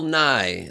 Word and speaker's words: Nye: Well, that was Bill New Year's Eve. What's that? I'm being told it's pronounced Nye. That was Bill Nye, the science guy. His last name is NYE.